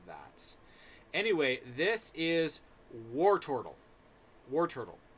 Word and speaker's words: Wartortle: anyway this is wartortle war turtle or tortell if you pronounce it correctly it's like war tortol but i'm used to pronouncing it war turtle or war war toward